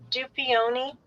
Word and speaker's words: Dupioni: Dupioni.